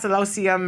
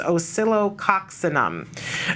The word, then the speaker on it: Oscillococcinum: look for it again I call it l oxium or something but the correct pronunciation is osilo coxam okay I believe um but it's the